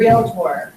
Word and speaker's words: Realtor: Realtor. Thank you, she remembered. Isn't that nice to say? No. You put an extra syllable in.